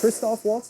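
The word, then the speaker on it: Christoph Waltz: It's Kristoff Waltz.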